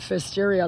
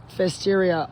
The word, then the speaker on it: Pfiesteria: or not we're infected with, we talked about Pfiesteria, that's PF. Pfiesteria, spelled like that.